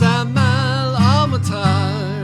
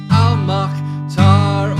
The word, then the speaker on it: Amal El-Mohtar: Her name is Amal El-Mohtar. It's definitely not Amal or Al-Mohtar or any of the other ways I pronounce it for the first half of this episode, cause I didn't bother to look it up.